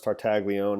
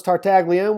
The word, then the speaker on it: Tartaglione: individual, you know, Nicholas Tartaglione. I know that's not how you pronounce. I think the G is silent.